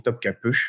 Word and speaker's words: Topkapı: point, mais en fait en turc ça s'écrit sans point sur le i et le i sans point se prononce e. Donc c'est pour ça qu'on dit Topkapı et vous allez le retrouver dans plusieurs noms de villes notamment.